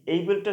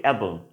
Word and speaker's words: able: ওকে, এখানে দেখুন এইবল টু বি, এইবলটা সম্পর্কে একটু বলি, অর্থাৎ ABLE এর প্রোনাউন্সিয়েশনটা অনেকে কিন্তু ভুল করি। ঠিক আছে, অনেকে বলি অ্যাবল, উচ্চারণটা কিন্তু সঠিক না, উচ্চারণটা হবে এইবল, উচ্চারণটা কি হবে এইবল।